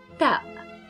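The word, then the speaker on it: تاء: Then next we have ta, ta. It's pronunciation just like a t in English, t, t.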